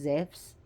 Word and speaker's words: Zeus: You know how in the stories, Zeus, actually, aka Zeus, but his name is pronounced Zeus, had changed himself to